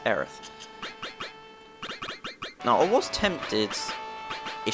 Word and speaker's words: Aerith: In the English version, she's called Aeris. In the Japanese version, her name is pronounced like this, Aerith.